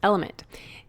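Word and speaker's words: LMNT: our sponsors Ln element it's spelled l MNT but pronounced element if you haven't heard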